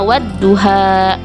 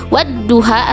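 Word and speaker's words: وَالضُّحَى: Cara membacanya yaitu dengan lamnya tidak dibaca tetapi lebur atau masuk ke huruf syamsiah yang ada di depannya. Contohnya wadduha. Wadduha antara wawu dan dho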